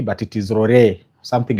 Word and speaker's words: Rurii: It is R U R I I may pronounce it as R but it is Rory.